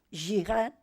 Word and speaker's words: jihad: es una y o una J que se que se pronuncia y yihad y lo han entrado